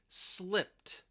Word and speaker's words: slipped: Now that ED, because the p, it's a voiceless sound, normally that ED would have a T sound, slipped, slipped. But in this case, that T sound is going to elide.